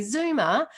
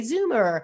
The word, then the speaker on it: Zoomer: o m e r the reason i have to spell it is because i say zuma um and you say zoomer so i need to